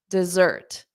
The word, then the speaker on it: dessert: glad you asked okay D desert zert zert so notice that z sound desert D so the syllable stress is d da dessert da da da da dessert dessert so repeat after me